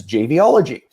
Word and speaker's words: JBology: And then it came out as like, wait a second, that's JBology. So that's what the twist is. If you ever want to how to pronounce it, think mixology, but JBology.